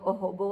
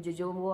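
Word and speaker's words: jojoba: क्या क्या बोलते हैं कभी मैं बोलती हूँ ओहोबो ऑयल, कभी बोलती हूँ जोजोबो ऑयल, बिकॉज इसके सब लोग डिफरेंटली इसको वो प्रोनाउंस करते हैं।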